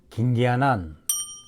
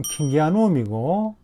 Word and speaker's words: 킹기아눔: 긴기화난, 긴기화난, 긴기화나, 긴기화남. 또 어떤 유튜버는 아예 대놓고 김씨성을 붙여 김기화난이라고 부르는 걸 봤는데, 정식 명칭은 덴드로비움 킹기아눔이고 킹기아넘까지는 그래도 좀 괜찮은 발음이라고 생각합니다.